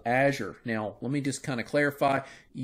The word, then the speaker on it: Azure: Microsoft's cloud service that does this, their IaaS service, is called Azure. Now, let me just kind of clarify. You may pronounce that name, that word, a little different than I do, Azure or Azure or Azure.